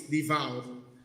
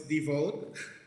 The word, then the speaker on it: devout: I didn't know the correct pronunciation for devout is devout. I thought it was devote, and then it's kind of sound like default.